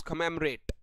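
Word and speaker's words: commemorate: बिल्कुल यह बोला जाता है बॉस खमेरेट। ठीक है? खमेरेट को याद करेंगे। कमो और रात से क्या भाई कमो और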